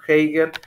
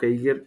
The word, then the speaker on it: Heidegger: Bueno, la existencia en común se desenvuelve, según Heidegger, como una interminable cadena de acciones y reacciones.